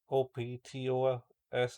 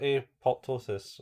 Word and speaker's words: apoptosis: cuz you know a op t o s i s a p o p t o s i s yeah why is that apoptosis not optos apoptosis aptus cuz it's like